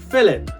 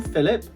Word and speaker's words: Philip: It is pronounced as an F.